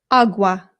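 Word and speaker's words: agua: Again, the a makes an a sound. There are some British people, including people in my own family, who say awa, and it is not correct. Please don't say it that way if you're trying to speak Spanish. It's awa. Awa.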